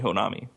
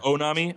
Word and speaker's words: Honami: The Sony Honami. The what? Is that the... Or is it Onami? Onami? I don't know if you pronounce the H, but Honami.